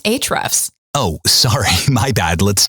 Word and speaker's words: Ahrefs: It's actually pronounced Ahrefs. Oh, sorry, my bad. Let's do it again. Ahrefs Podcast.